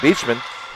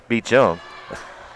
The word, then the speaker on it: Beachum: And nice play there by number 16, McIntosh, by Beachman. And Monterey, I just realized I've been mispronouncing Beachman's last name. It's actually Beachum.